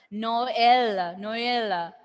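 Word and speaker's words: Noël: The French pronunciation itself. Noel, then heroine.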